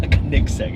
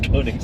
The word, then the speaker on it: Koenigsegg: It's not Koenigsegg, it's Koenigsegg.